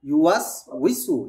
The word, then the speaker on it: يوسوس: উচ্চারণ ঠিক আসছে, কিন্তু উইটা লম্বা করে ফেলেছেন, এটা লম্বা হবে না। الذي يوسوس في صدور الناس শব্দটা একটু শুনেন, ইউয়াস উইসু, ইউয়াস উইসু, তাড়াতাড়ি হবে,